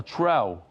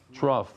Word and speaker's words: trough: All these dead people will just be like a th a trout, right? That's how you say it. Trough. That's a trough.